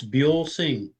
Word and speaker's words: Buelsing: How is it pronounced? I never asked you that. It's Buell Singh. I did say it right.